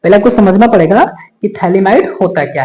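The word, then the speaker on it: phthalimide: थैली माड रिएक्शन इसमें टी हमने स्मल लिखा है क्योंकि प साइलेंट रहता है थैली माइड रिएक्शन या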